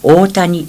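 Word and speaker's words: 小谷: 琵琶湖の北、小谷と書いて大谷と読む村の佐吉と同じ豪氏の家の出らしい。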